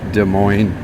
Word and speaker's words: Des Moines: foreign foreign other people say dismoines but it's Des Moines just like Illinois versus Illinois but I guess us is silent in some ways picking up recyclable Plastics